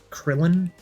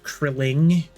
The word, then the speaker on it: Krillin: My name is Krillin, not Krilling.